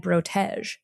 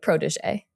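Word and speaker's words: protégé: no, I was reading this article and I kept saying in my head brotege. And then Right, like protege. in parentheses in the article it was like pronounced as like protege.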